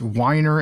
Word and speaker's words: Weiner: exactly you know like I've heard the name pronounced two different ways Wier and weer but I prefer weer of course you know